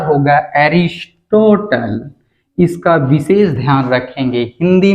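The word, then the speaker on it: Aristotle: माना जाता है अंग्रेजी में लिखेंगे तो बेटा उच्चारण होगा हरीश टोटल इसका विशेष ध्यान रखेंगे हिंदी में लिखेंगे तो अरस्तु अंग्रेजी में लिखेंगे तो बेटा स्पेलिंग के अनुसार प्रोनॉन्सिएशन होगा हरीश टोटल एक बहुत ही प्यारा सा प्रश्न बनता है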